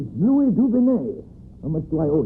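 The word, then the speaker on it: Louis Dugonnet: place of begin that's it my name is Lou duen I'm much do I owe you how you spell it l o u i s d u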